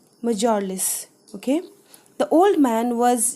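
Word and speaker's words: mjölis: his guest until bedtime students this particular word will be pronounced as majorless okay the old man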